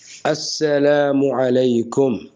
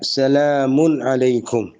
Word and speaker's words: السلام علیکم: تو خوب سمجھ لیجئے کہ صحیح تلفظ ہے السلام علیکم. اور دوسرا طریقہ بھی درست ہے، وہ کیا ہے؟ سلام علیکم.